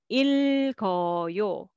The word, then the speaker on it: 읽어요: And this one, first for the first syllable, and this one carry over. 짧아요, 짧아요. Next, 젊어요, 젊어요. 읽어요, 읽어요.